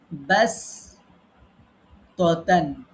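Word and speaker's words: بسطة: সেখানে আছে একটা শব্দ ব্যাস ততান। এখন এই যে ব্যাস সিন পড়ছি, এখানে সোয়াদও আছে। এখন সোয়াদ পড়বো না সিন পড়বো? এখানে দেখেন এই যে ডান দিকে লেখা আছে সিন পড়া উত্তম।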